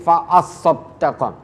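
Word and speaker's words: فأصدق: Dan di sini permohonannya, laula akhartani ila ajalin qarib fa as-saddaqah. Panjenengan perhatikan di kata fa as-saddaqah, ada dua tasdid berdampingan di situ.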